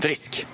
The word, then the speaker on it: risk: Par exemple, une voyelle longue se retrouve dans le mot riche. Rik. En rik person. Yeah. Et une voyelle courte se retrouve dans le mot risk. Jag tar en risk.